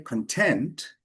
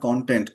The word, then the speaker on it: content: But if I say content, that means I'm satisfied. It's an adjective. So, same spelling, right? But doesn't sound the same. It's not content. Content.